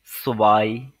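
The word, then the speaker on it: zwei: আইন্স তারপরে যেটা আছে টু টু টু কে ডয়েসরা বলে থাকে সুবাই সুবাই তারপরে আছে থ্রি থ্রি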